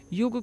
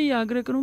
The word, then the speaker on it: योग: उच्चारण करें मैं सबसे या ग्रहों का योग को योगा ना करें योगा कोई दर्द नहीं होता है कि अब इस योग